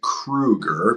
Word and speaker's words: Kroeger: my name is Krueger and and um in our family we're pronounce it Krueger with the like uh it sounds like two o's or a u um and uh I